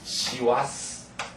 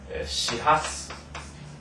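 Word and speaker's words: 師走: 이것을 시와스 또는 시하스, 시하스가 이렇게 씁니다. 둘 다 읽어요.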